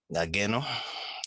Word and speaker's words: Ngageno: My name is Louis Ngageno. The G is silent.